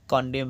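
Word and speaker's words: condemn: হচ্ছে অটম অর্থাৎ শরৎকালে কন্ডেম সি ও এন ডি ই এম এন এন উচ্চারণ নেই তাই কনডেম অর্থাৎ নিন্দা করা এইচ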